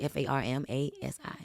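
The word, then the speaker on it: Farmasi: farm, F-A-R-M, Like with the F instead of a A-S-I, PH. Okay. pharmacy, yeah, pharmacy, F-A-R-M-A-S-I.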